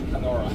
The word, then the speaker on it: Canora: It's spelled like Canada. Canada. In English, Canora.